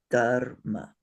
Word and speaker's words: dharma: There is no vowel in between the ra and the ma. It's dharma. So that's why that little mark is on top of the ma and not on top of the da.